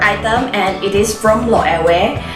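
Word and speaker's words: Loewe: and it is from lo away i always pronounce it as low away because that is my friends from spain told me they said that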